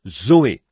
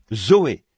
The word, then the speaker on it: Zoé: Et en grec, pour dire la vie de Dieu ou la vie éternelle, on se sert du même mot que l'on prononce, Zoé. Z O E. Zoé, la vie.